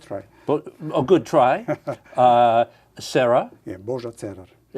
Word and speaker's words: Božo Cerar: Yeah, Božo Cerar. You say it with a little bit of a roll in there.